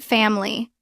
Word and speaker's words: family: Look at family. Stress is on fam. The next vowel is I. It is unstressed so we drop it. Family.